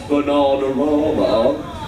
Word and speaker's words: Bananarama: The correct pronunciation is Bananarama. Thank you. So, as a result, for getting Venus Bananarama, team number two, you just got yourselves 5 points!